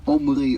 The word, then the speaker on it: Omri: so some other stuff and my name is omri omri i know it's difficult to pronounce but he was the king in the